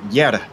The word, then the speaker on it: Jere: I will help you with one, because I know, because I've actually met him. Those 49 Motorsports guys. It's Jere Janis. Those Finn names are very difficult, but Jere is what I've been corrected in person.